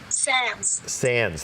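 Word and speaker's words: Sandys: this this woman Edwina Sandy's am i pronouncing that correct sans thank you Tippi Hedren here is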